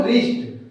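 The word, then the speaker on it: wrist: दोस्तों यहाँ पे देखिए प्रत्येक आर से पहले हमें डब्ल्यू मिल रहा है। तो यहाँ पे दोस्त हम डायरेक्ट आर यानी र वर्ड को उच्चारण कर रहे हैं, आर का हम उच्चारण कर रहे हैं, डब्ल्यू हमारा कंप्लीटली साइलेंट है।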